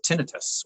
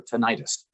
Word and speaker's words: tinnitus: actually helping people with tinnitus or tinnitus uh yes and both those pronunciations are correct um and so over